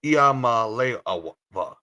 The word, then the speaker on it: Iamaleava: It's Iamaleava. So please excuse me for the pronunciation of last names because sometimes I am bad with last names.